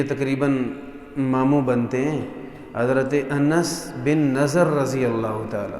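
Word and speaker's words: أنس: انس۔ یہ لفظ انس نہیں ہوتا، انس نہیں، عربی زبان میں اس کی تلفظ یوں ہے، نون پہ زبر، انس۔ سیدنا حضرت انس رضی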